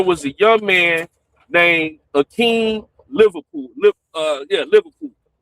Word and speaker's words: Akin: Literally the weekend before down in Miami, there was a young man named Aeen Liverpool. Li uh yeah, Liverpool or uh Akin Liverpool. His his first name is spelled A K I N.